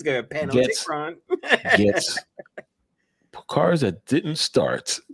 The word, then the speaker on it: Panopticron: Panopticron. So the P is silent, guys. All right. So it's not Panop. Tikron, all right? Panopticron. It's Panopticron. You get there.